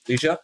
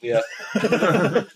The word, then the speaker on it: Leah: Alicia. Oh, Leah! I pronounced it wrong. Leah. Good night. Stay silent. The Scandi way.